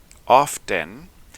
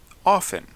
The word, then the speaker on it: often: Algunos lo pronuncian con la T, often, y otros sin la T, often.